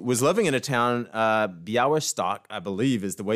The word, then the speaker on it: Białystok: Jewish ophthalmologist who was living in a town, Białystok, I believe is the way you pronounce it, where the Russian Empire, who controlled